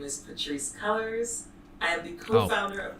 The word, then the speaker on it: Cullors: of black lives matter I've been calling her Patrice kores because that's how you actually should pronounce that name but not I guess not but okay maybe maybe somebody should tell her how that name would be pronounced right like really okay